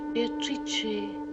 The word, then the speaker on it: Beatrice: It is pronounced Beatrice in Italian, which makes it very beautiful.